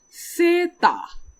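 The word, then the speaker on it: セーター: Second one, we have sweater in English, which we will pronounce it in Japanese as seta.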